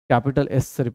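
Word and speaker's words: κ: of unit of इसको क्या pronounce करते हैं कापा प्रोनाउंस करते हैं और यहां से ही प्रॉब्लम आनी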